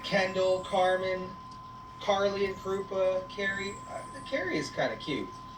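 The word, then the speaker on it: Kari: Carrie and Krupa. Ooh. But spelled with a K. K-A-R-I. Carrie and Krupa.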